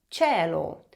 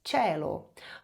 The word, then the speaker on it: cielo: O mesmo vale para a língua italiana, onde o E e o I são os diferentões, digamos assim, porque eles mudam a pronúncia do C e do G.